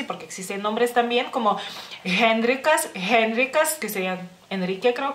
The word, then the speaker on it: Henrikas: recuerden que en lituano la letra H no es un fantasmita, se tiene que pronunciar en la palabra que sea, en nombres o, bueno, alguna